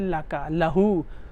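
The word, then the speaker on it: لَهُ: beautifully constructed yes yes so this lie is basically Lee for but then we know we learned that when the Mir mutta cell joins with Lee for ease of pronunciation we say lahu right this comes in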